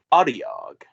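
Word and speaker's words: Otyugh: The stench of sewer filth and garbage belches forth, heralding the approach of a loud and hungry Adiog.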